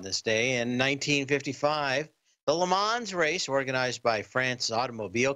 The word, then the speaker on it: Le Mans: And if you ever go there, you've got to say it like that. Just drift off the very end of it, Le Mans.